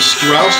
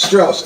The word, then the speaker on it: Strauss: Strauss. S-T-R-A-U-S. I'm sorry. I was giving it the proper German Is that what it is? pronunciation. Pronunciation? Strauss.